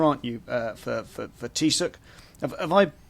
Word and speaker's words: Teagasc: Uh for for Tissuk, have I pronounced that correctly? Uh there's there's multiple pronunciations, Tom. H thanks a million for the invite. But Chagus is how I pronounce it.